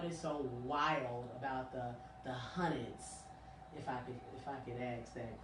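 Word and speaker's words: Hunneds: Because I was pronouncing it before, I was like, the Wild 100s. Oh, no. Okay. Now I know you're possibly not from here. It's not like, H-U-N-D-R-E-D. It's H-U-N-N-E-D-S. The Hundreds.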